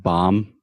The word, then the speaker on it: bomb: like in the word bomb yeah there's no B at the end I mean there is